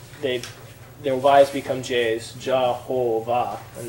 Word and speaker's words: Jehovah: they're wise become J's Jehovah and the W becomes a V because that's how you pronounce the German words so that's this the